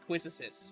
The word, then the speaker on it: Quistis: Yeah, like everyone calls the teacher from FF8 Quizzicis, but no, it's Quizzicis. I thought it was Quistis. Everyone in their fucking moms say it, but no, it's actually pronounced Quizzicis. It's French.